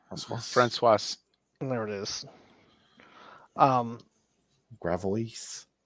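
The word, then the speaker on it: Françoise: ] you pronounce it they pronounce an s in there they do francoise there it is um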